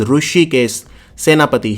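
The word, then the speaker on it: Hrushikesh Senapati: In NCERT, the director of NCERT is Rishikesh Senapati. Let me write it here. Mr. Rishikesh Senapati. There is a H also which is silent. So it is Rishikesh Senapati.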